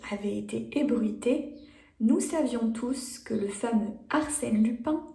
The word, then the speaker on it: tous: Rappelle-toi dans cette partie que pour tous, on prononce le S.